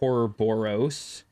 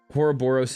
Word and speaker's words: Ouroboros: I always say it like Ouroboros. Like boring and gross.